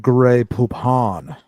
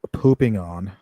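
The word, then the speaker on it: Grey Poupon: It's pronounced gray poopon, not pooping on.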